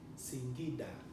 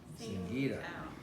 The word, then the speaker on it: Singida: Singida. How do you spell that?